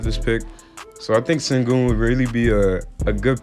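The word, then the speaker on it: Şengün: So to start off this draft, the first prospect we're going to look at number 14 is Alperen Sengun. Yes, that's how you pronounce it, Sengun.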